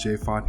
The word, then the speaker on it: J.Fonte: Hey guys, it's J.Fonte here, the E is silent, and today I'm going to show you how to make a cancel-free Taco Bell Fried Supreme recipe.